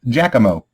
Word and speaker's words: Giacomo: His name is Jack, is what he goes by, but it's pronounced Giacomo.